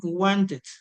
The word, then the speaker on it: wanted: Wanted. Wanted. Ahí sí pronunciamos la E con la D.